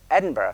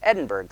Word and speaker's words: Edinburgh: is eight questions called the Edinburg scale, which drives me crazy as a reformed Scott that at Edinburgh scale, but that's not what Americans say, Edinberg scale.